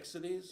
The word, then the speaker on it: Ixides: That's how you say it. Ixides?